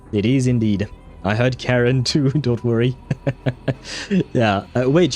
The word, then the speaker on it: Charon: Ah, wait, I can listen to how it's pronounced. Karen. That sounds like Karen.